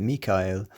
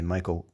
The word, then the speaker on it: Michaël: If you look at Michael, many people want to say Michael because we say Michael in English, and because typically the A-E go together in one syllable in Latin. But here you can see the two dots over the E. That's to help show you that these are two separate syllables because it comes from the Hebrew Michael.